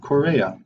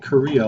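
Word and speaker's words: chorea: basal ganglia this uncontrolled excessive movement is called Correia not called Korea like everybody else pronounces that it's a Greek word that means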